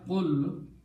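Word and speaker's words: قل: When we pronounce it this way, qul, it becomes a command, order, say.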